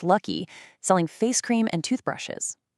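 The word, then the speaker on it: Lak-Hui: Back in 1947, Ku Inhoe started a company called Laui, which is actually pronounced Lucky, selling face cream and toothbrushes, literally face cream.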